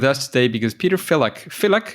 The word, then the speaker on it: Filak: Filak, is that a good way to pronounce it? That's correct.